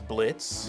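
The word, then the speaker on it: Blitzø: is the main boss his name is Blitz the O is silent and we have Millie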